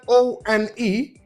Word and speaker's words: one: One, which means that the first sound that is the W sound.